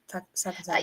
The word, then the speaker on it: Sakazaki: Sakazaki.